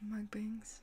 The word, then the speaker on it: mukbangs: as well i'm sorry but i do watch mukbangs that's the way you pronounce it sometimes just to keep me company